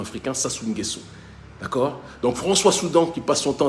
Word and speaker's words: François Soudan: actuelle par un certain françois soudan françois soudan je vous encourage à faire vos recherches soudan comme ça se prononce françois comme ça